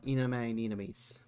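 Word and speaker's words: Ina'nis: uh gargura or Calliope Mori or Ina uh enameous that's how you actually say her name their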